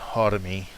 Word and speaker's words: Harami: The it's pronounced Hodami. I call it Harami, just because I can't.